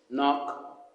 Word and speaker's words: knock: The sound is silent, and the words used in this rhyme is knife, knee, knock, knock, knuckles, night, new. All the words, the K is a silent K.